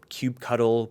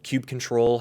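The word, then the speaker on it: kubectl: The command that you see that we're running here, cubectl or cube cuddle, cube control, however you want to pronounce it, is the primary CLI tool for interacting with Kubernetes clusters.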